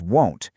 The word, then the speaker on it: won't: Also, pay super close attention to the pronunciation here. It's won't, shifting from that short I sound in will to a very distinct O sound.